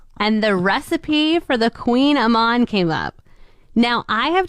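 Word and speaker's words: Kouign-amann: and I'd love for you to try and pronounce it. The Kuhnaman. All right. That was pretty close. Kuhnaman. It's the Queenamon.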